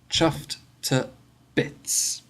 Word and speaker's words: chuffed to bits: you can hear that we don't say two we say chuffed to bits okay so that's chuffed